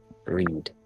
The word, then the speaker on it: Read: It's It's read. Reed.